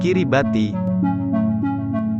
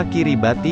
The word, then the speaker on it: Kiribati: setengah area atol tarawa nama kiribati diadopsi saat kemerdekaan ini adalah Laval pengucapan orang lokal dari kata gilbts nama ini berasal dari